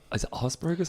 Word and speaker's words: Asperger's: But like I've met your brother, you know, and if like I didn't know, you know, he was is it Asperger's?